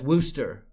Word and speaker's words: Worcester: Because that's where I come from, Worcester, Ohio. And everyone pronounced John Worcester as Wooster.